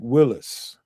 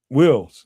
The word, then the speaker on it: Wills: This is Willis. Wills, excuse me, Wills is that that's the proper name way to say his name.